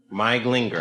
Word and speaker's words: Glinger: Glinger. Are you an actress? No. I would say if you are, keep that name. Glinger. Glinger. I said it right. It's Hungarian.